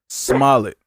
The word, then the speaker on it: Smollett: Smollett. That's how you pronounce it, yeah.